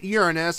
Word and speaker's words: Uranus: to last star Droid Uranus or if you prefer the pronunciation Uranus um it doesn't matter